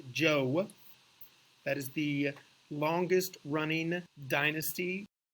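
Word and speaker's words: Zhou: Knights and in Europe that is pronounced Joe that is the longest-running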